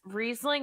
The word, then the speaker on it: Riesling: There was Riesling. Is that how you pronounce that wine I Riesling.